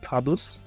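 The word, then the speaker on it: Vaduz: অবস্থিত যার রাজধানীর নাম ফাদুস লিসেন এর অফিশিয়াল ল্যাঙ্গুয়েজ হচ্ছে ডয়েস ডয়েস মিন জার্মান এবং জার্মান ভাষায় এইটার উচ্চারণ হচ্ছে ফাদস এর এরিয়া মাত্র 160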